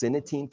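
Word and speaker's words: Cynatine: This is internal, so it's pronounced synetine keratin, and so this actually has tremendous clinical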